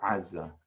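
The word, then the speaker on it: עזה: So if you were to say, I'm going to Gaza, which is Aza in modern Hebrew, you really should say Aza.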